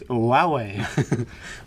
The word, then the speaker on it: Huawei: This is a good thing about when I worked in a phone company, because I now know it's Huawei. Huawei, yeah. Huawei.